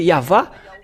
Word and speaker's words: Yahvah: la translitération c'est là ils utilisent le W comme les Anglais mais si ce sont les Français ils vont lesppeler V et c'est pourquoi la question se pose C WV ou V c'est à suite à la transitération des chercheurs et des savants bon donc ils ont utilisé le DoubleV mais si on regarde depuis l'original hébreu donc c'est V le vraépellation et ceux qui ont prononcé yava ceux qui sont ôés